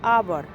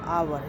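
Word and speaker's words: hour: लेकिन कुछ वर्ड है जैसे आवर। आवर जिसको घंटा बोलते हैं। एच ओ यू आर आवर। यहां पे एच साइलेंट है।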